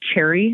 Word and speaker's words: Cherre: So we currently partner with a company called Cherry. Have you guys heard of Cherry? Cherries? Like in the fruit? Yeah, their logo is actually a cherry, but it's spelled CHERRE.